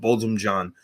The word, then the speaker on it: Botham Jean: Four Beau, a play inspired by the murder of Botham Jean. Did I say that right? I said I couldn't pronounce everything correctly?